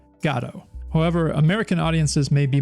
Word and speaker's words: Godot: Captain Picard and Gandalf I'm Gonna Roll with gato but much like the Samuel Beckett play that